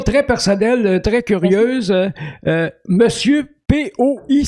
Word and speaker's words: Poi: Monsieur P-O-I, ça se prononce comment? Poi. OK, merci.